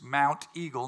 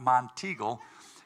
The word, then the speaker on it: Mount Eagle: of song of words it's Mount Eagle not monagle and George's last name